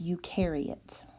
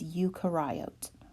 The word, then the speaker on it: eukaryote: oat you karai oat when I was younger I was told that that is eukaryote and dr. Burnett whom I have much respect for just said no ma'am that is incorrect it is Yuka riot so I'm going to